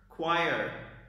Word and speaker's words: choir: Third word, choir.